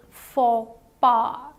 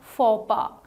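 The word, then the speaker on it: faux pas: and what do you think is the correct pronunciation it is for BA the the correct pronunciation of this word is for bar so for bar is a word of French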